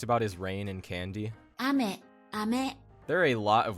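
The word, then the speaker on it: あめ: Ame.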